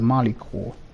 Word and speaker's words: Malicor: Okay, I think I pronounced the Malicor before. It was wrong. It is the Malicor.